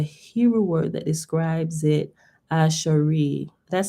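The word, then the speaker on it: אשרי: that to a hebrew word that describes it ashari that said it right ash reed ash look you gotta put like dashes to make sure i pronounce it right ash reed it's the word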